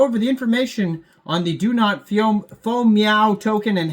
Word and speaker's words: DoNotFoMoew: It's like meow, but spelled with the O in front of the E, and that makes it FOMO in between there. So DoNotFoMoew, DoNotFoMoew.